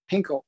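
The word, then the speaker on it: Fin.K.L: It was actually Finkel, but they would pronounce it Pinkle. Like their own band, they would mispronounce their name.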